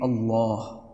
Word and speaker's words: Allah: characteristic of the word Allah, and there is no other lam like this in the Arabic language, we are actually required